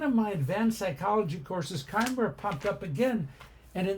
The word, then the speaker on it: chimera: part snake part goat actually I thought I was learning about Chima or Chimera or something like that because that's how it's spelled but Kimera it is in one of